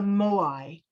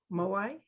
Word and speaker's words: Moai: This is the silence of the Moai. I think that's how you say it. Moai, M-O-A-I.